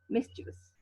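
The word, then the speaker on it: mischievous: सब कहीं कितने सारे वॉवल्स हैं तो कितने सारे सिलेबस है, नो, 3 सिलेबस। मिस्चीवियस, मिस्चीवियस, और तीनों ही बहुत ही शॉर्ट हैं, लॉन्ग नहीं है, मिस्चीवियस, ओके।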